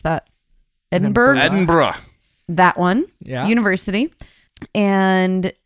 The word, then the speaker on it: Edinburgh: pronounce that? Edinburgh? Edinburgh.